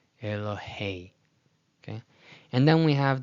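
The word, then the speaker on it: אלהי: Again, nobody says Elohei, Elohei, Elohei, but rather the diphthong means it's combined to sound as Elohei, Elohei.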